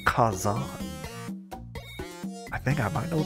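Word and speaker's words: 火山: for volcano is actually Fire Mountain and it's pronounced Kazan I think I might know the answer to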